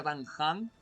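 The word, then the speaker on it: Dan Heng: Pero a veces lo que pasa como Dan Han, que se escribe Dan Hen, pero se pronuncia Dan Han.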